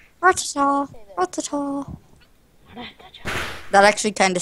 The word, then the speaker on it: Rattata: Rattata. Rattata.